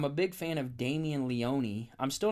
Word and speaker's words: Leone: it like that himself for the longest time I thought his last name was Leon but apparently it's Leone I thought the e was silent but it's not so I'm a big fan